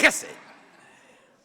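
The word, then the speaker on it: חֶסֶד: When you say it right, something lands on the back of the neck of the guy in front of you. Chesed.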